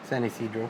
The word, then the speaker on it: San Ysidro: San Ysidro.